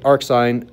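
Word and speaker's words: arcsin: So the way that we pronounce this is ar sign of x. So we say ar sign of x.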